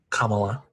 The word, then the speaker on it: Kamala: Is it Kamala? Kamala. Yeah. No. Kamala. Ms. Harris. It's not, because here's the thing. I keep saying it wrong because of Kamala the Giant from WWE. That was Kamala. It's wrong. It's Kamala. Okay.